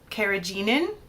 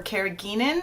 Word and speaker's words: carrageenan: guar gum xanthan gum carrageenan or carrageenan depending on how you prefer to pronounce that these things disrupt the